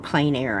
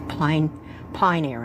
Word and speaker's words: plein air: They're great for, I keep saying plein air, and I know it's not pronounced that way. I always thought it was plein air. It's pine air, I think.